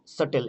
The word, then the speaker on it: subtle: ঠিক তেমনি date, doubt, এখানে হচ্ছে সাটেল, SUBTLE, এখানে বি কিন্তু সাইলেন্ট, সাটেল, SUTLE, সাটেল। এখানে ডাউট, DOUBT, বি সাইলেন্ট।